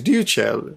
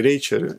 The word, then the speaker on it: Ryuchell: And I can never say his name right, because his name is Ryuchell, but I always want to say Ryucheru, and it's a man, okay?